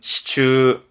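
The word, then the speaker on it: 支柱: 예, 발음은 시추. 지주는 시추.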